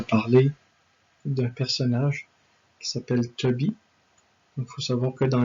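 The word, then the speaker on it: Tobit: Il y a le père qui s'appelle Toby, mais ça s'écrit un peu différemment. C'est T-O-B-I-T.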